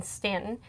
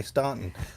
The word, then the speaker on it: Staunton: I mean, that was the one in Stanton. I mispronounced it the first time we went through there. It's well, it's easy to do because exactly. You see that AU, you're like, okay, Staunton.